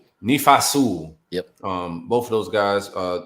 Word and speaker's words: Nephi Sewell: Nephi Sewell.